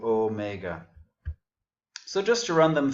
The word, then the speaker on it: omega: And then omega, again, it has the long E. It would be spelled with an eta there, so omega.